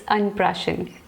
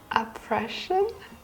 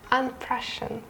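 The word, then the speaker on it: अन्नप्राशन: Okay, it's unprashan. Yes, I think that's the right one. Can you pronounce it? Oppression? It's unprashan. Unprashan. Yeah. Okay, I think I can pronounce it. Yeah, you pronounce it good actually.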